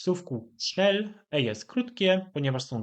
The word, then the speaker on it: schnell: jest swea czyli ciężko trudno jeżeli chodzi o wymowę w słówku snel jest krótkie ponieważ są d l czyli takie